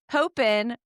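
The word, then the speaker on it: Popehn: Dakota said popen rhymes with propane.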